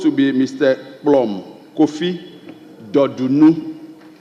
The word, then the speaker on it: Dodunu: Blom, Kofi Dodunu. The Dodunu is spelled D-O-R-D-U-N-U, Dodunu.